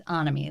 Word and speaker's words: Anami: It's Anami, like the end of economy or something, along those lines.